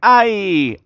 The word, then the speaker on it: eye: Cómo se dice ojo ojo se dice ay ay así como cuando te hincan Ay me duele también Ay se me cayó